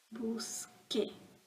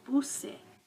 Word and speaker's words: busque: Busque. If I had kept the C, it would have said buse. I want the hard C.